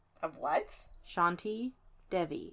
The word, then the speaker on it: Devi: Devi. Okay. I thought you said Devney or Debney or something, and No. I just needed clarification. Devi, however you want to pronounce it.